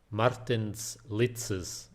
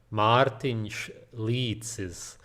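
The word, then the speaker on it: Martins Licis: Martins Litzes. I'm just kidding. It's Martin Leitzes. The reason I'm probably one of the only people online who can pronounce his name correctly is because we are from the same country, Latia.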